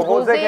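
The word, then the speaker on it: José: लोग जो है ना, जे को हे प्रोनाउंस करते हैं। तो जैसे कहते हैं एच लिख ले, नहीं नाम होता है ना, जैसे जोजे अगर आप पढ़ेंगे उसको वो होजे होता है, होजे होता है, होजे।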